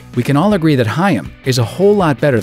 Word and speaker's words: Haim: Or even Haim, as in the life-saving Heimlich maneuver. Hey, how you pronounce our last name is Haim. Two syllables. There you go. Haim.